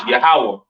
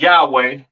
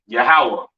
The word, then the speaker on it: Yahawah: on right so the lord's name is yahawah not y yahwa or or not Yahweh all right yahawah to the left of